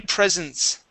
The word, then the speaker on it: presence: word here uh my presence my presence was my presence was okay yeah and it sounds like uh i received many presents for my birthday right but yes it's